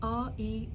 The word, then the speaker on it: Reiki: So it's spelt R-E-I-K-I, Reiki.